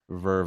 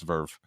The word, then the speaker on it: VRV: 2001 Verve is pronounced Verve, I believe. Yeah, it is pronounced VR. It's Verve. That's how you pronounce it. Verve, spelled VRV, not VER.